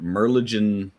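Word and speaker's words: Merlijn: And another this is uh sorry I scroll down passing this is from Merlin the trader or Merlen. Okay, I guess the J is silent. Merlin the trader.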